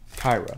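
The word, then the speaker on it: Qira: Kira. Okay, Kira. That's what I thought, yeah. Kira. Like Star Wars, except it's spelled very differently.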